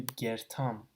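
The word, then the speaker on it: կերթամ: Similar to that, Go-Yerthal is lumped together into gertam. So you drop the sound, and you basically, these two words almost are pronounced as one word, gertam.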